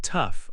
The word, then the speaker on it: tough: In tough, AW sounds like uff.